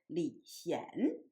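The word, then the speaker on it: 李賢: the same in English, but in Chinese, one of them pronounced in the second tone, and the younger one's name pronounced in the third tone. So one is Li Xian, and the other one is Li Xian.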